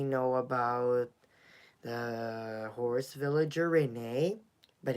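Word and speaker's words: Renée: Yeah, Renee. Because if you may know, like, how to pronounce the name. Where is it? Over there. Renee.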